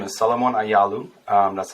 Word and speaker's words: Ayalew: yeah for sure so my name is Salomon aalu um that's how you pronounce my name uh so I was born